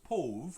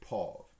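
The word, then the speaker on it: pauvre: use for poor and internationally you might pronounce it morse pov or pover but we would just pronounce it paul and we use paul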